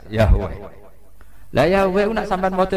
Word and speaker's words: Yahweh: Ya paham ya, Tuhan Yahudi tunggal niku Yahweh, napa? Yahweh. Iku nak teng ejaan Latin Y besar, A H besar, W E H besar, Yahweh.